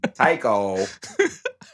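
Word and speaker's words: Taika: untitled taiko what what yeah oh hold on taiko that's how you say his name but uh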